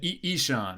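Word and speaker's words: Ixan: I'm going to screw up the pronunciation of this again. Oh, it's a Ishan.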